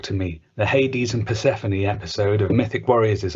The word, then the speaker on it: Persephone: We've also got Liam Stew, CRT, who says, I've been pronouncing Persephone as Persephone and found out by watching Mythic Warriors with my bro that it's actually Persephone.